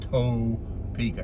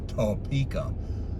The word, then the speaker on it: Topeka: there but here i am oh i was pronouncing it wrong ta pica it's not toe pica it's topeka i was corrected many times at the rush